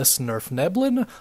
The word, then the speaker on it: svirfneblin: We're going to be talking about the Deep Gnome today, also known as the svirfneblin. Hope I'm pronouncing that right, pretty dang sure I am.